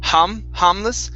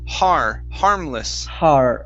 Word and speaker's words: harmless: Give me a good R sound instead of harmless. It's harmless.